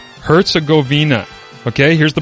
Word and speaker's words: Herzegovina: on the entire board for you okay it's herzogovina herzegovina okay here's the pronunciation herzegovina herzegovina sound it out my man